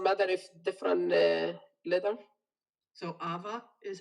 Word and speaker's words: Ava: apple it doesn't matter if different leather so ava is how i pronounce it yes but it starts with the